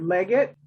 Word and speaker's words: Leggett: hovering right here yeah leonard leggett not leaguer all right leonard leggett